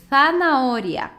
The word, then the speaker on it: zanahoria: E aqui, zanahoria. Então, os espanhóis, né, pronunciam CE e o Z assim, C e Z, com a língua entre os dentes, tá?